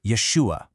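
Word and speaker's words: ישוע: See, back in his time, in the Hebrew and Aramaic that everyone was speaking, his name was actually pronounced Yeshua.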